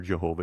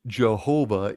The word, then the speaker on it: Jehovah: The pronunciation Jehovah is a medieval invention, combining the consonants of YHWH with the vowels of Adonai, and was not in